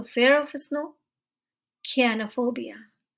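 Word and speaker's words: chionophobia: So fear of snow, कियानोफोबिया। इसे आप चियानो या शियानो नहीं पढ़िएगा, ये है कियानोफोबिया।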